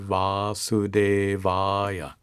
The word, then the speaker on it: वासुदेवाय: an incarnation of Vishnu, is Om Namo Bhagavate Vasudevaya. Salutations to Bhagavan, to God, in the form of Vasudeva, which is a name for Krishna. Listen again. Om Namo Bhagavate Vasudevaya.